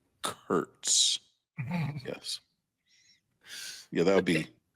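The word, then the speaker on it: Kurtz: Curts. Nick Curts. Yes. Nick Curts.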